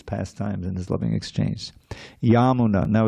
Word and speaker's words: Yamuna: Yamuna now it's now it's the name of the river is Yamuna right with a long a at the end. But because this is of the yamuna the long a at the end becomes short and the second a becomes long. So it's yamuna.